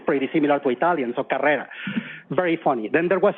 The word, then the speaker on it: Carrera: I was able to pronounce her last name properly Carrera and he said how is it that you can say car Carrera yeah that everyone here says carera and I said well